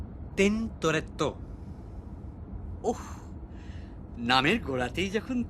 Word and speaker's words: Tintoretto: আচ্ছা, টিনটোরিয়ার ইটালিয়ান উচ্চারণ কি মশাই? টিনটোরিয়ার কিছু নেই, টিনটোরেটর আছে। ওই হলো Tintoretto.